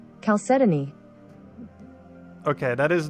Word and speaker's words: chalcedony: the high sponsor okay i am right it is four syllables so whoever keeps putting three syllables it is indeed four chalcedony okay that is not